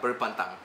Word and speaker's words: berpantang: So Emmy asks, how would Rachel do berpantang? Is that how you say it? Yeah, berpantang.